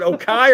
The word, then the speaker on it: Okie: was it Okai or Oki? Shit. Sean Sterling, give it back to me. Give it O-K-I-E. Okay, like someone Oki. pronounce Oki.